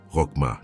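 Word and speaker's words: חכמה: La parole hébraïque qui définit exactement ce qui se passe en toi est chokma. Prononcela avec moi où que tu sois. Rokma chocma.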